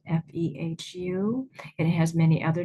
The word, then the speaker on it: Fehu: You know how to pronounce it. Feoo. Here's how it's it's spelled. Fe hu.